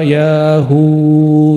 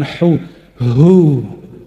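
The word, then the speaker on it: يا هو: para imam kita berdoa ya Hu ya Hu Coba baca sama-sama Yu yahu yahu bukan hu hu ada merindingnya enggak tadi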